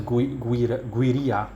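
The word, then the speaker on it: Güiria: And the region is Guiria, that's how it's pronounced, Guiria Sucre, Venezuela.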